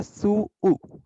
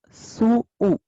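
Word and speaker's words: 吸う: ये है सू ऊ, तो इसका प्रोनाउंसिएशन प्रॉपर होगा सू ऊ, नॉट सू। इसका प्रोनाउंसिएशन सू ऊ होगा।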